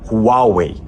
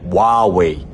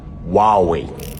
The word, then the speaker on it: Huawei: Eu falo no vídeo inteiro Huawei, mas o certo lá na China é Huawei. Mas eu falei Huawei porque é a forma como a gente pronuncia aqui no Brasil, mas o certo é Huawei.